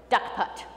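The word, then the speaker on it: DUKPT: about derived unique Keeper transaction officially pronounced da cut and I promise you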